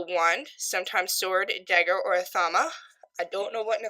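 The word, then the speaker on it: athame: Its magical tool is the wand, sometimes sword, dagger, or a thama. I don't know what an athama is. Let's look that up right now. A-T-H-A-M-E, athama.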